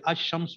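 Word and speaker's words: الشمس: तो ये अल पढ़ा, जैसे अशम्स में अलिफ लाम है लेकिन लाम साइलेंट है ना, लाम साइलेंट है, गिर गया, महजूफ हो गया, पढ़ने में नहीं आ रहा, अशम्सु अलहमदु में अलिफ लाम है, वहाँ पढ़ा जा रहा है।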